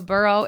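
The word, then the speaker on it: borough: that's a buau a burrow is like what groundhogs did that's a yeah so this word is spelled b o r o u g h a burrow is basically just a different area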